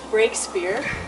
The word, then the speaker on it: Breakspear: quite a beautiful pub features breakspear which is um did i pronounce that correctly you did which is um